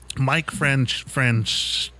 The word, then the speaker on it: Mike Francesa: And Mike Francesa is how you say his name.